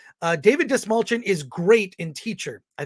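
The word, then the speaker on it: Dastmalchian: Lemire says uh David dismalchin is great in teacher I think that's his name I know how to spell it spelled just like it sounds dust mulchin it's all good someone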